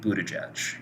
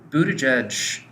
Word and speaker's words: Buttigieg: So this week we're going to be talking about Pete Buttigieg. I think I'm finally pronouncing that right. Yes. So Buttigieg, the reason we're talking about him, for anyone